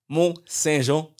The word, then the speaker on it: Monsaingeon: Aujourd'hui, j'ai la chance d'être avec mon ami Axel Mont-Saint-Jean. Parfait. Yes. Je suis bien content de l'avoir bien prononcé, Axel.